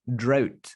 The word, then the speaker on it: drought: let's break it down the word out fuera okay that's easy out and then add at the beginning of the word d r d r oh okay